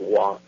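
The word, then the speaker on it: waw: It does you know like the uh the W in Hebrew is Wah which is the well the letter is pronounced Wah and uh it's the sixth letter of the Hebrew alphabet.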